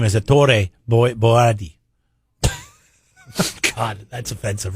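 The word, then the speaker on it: Ettore Boiardi: I think his real name is his born Italian name is Ettore Boyardee. God, that's offensive, right? Did I just offend all Italians with that pronunciation?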